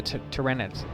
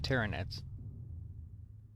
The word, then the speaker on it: Tyranids: series that had the tyranids and i i yeah on a on a side note i used to mispronounce that them all the time i say trinidad's but it's not trinidad's anyway as you can see